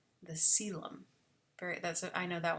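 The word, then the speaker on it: coelom: think it's pronounced like co but it's actually pronounced uh silent the celem very that's i know that one is pronounced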